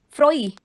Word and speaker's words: froid: Froid. Pronunciation is froid.